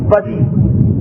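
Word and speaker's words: بدیع: کہتے خلق کرنے والا۔ بے دال یہ اور عین، موسم میں خشکی بہت ہے اس لیے عین کا تلفظ آپ کو صحیح سمجھ میں نہیں آئے گا، میں نے خود بیان کر دی۔ بدی اور خالق دونوں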